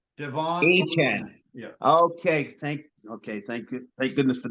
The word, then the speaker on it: Achane: He went out today and he said, I want you to pronounce my name, Devon Achane. Devon Achane.